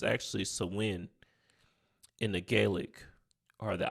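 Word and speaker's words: Samhain: G Festival it's in the English we were pronounce it Sam H but it's really um if we look at the actual pronunciation it's actually swin in the Gaelic or the Irish all right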